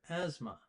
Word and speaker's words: asthma: This person talks about asthma, and don't get confused by the TH in the word asthma. We don't say the TH at all.